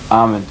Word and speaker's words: almond: Almond. Almonds. Well done. I thought the silent L might have thrown them, but apparently they're not quite grooving on that depth of the thing at the moment.